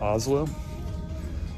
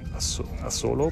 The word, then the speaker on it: Asolo: I think you pronounce it Oslo. Some people would say it Asolo, but I think it's pronounced Oslo.